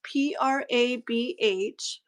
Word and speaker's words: Prabh: Okay, so PJJ says, so her name is I don't know if I say it right. Prab. It's Prabh.